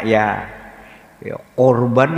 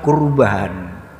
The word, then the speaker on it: kurban: Iya kurban ya Hai nanti pelafalannya kya-pyo Urban atau kurban ya biasa sajalah pelafalan bahasa Indonesia ada kata-kata korban tapi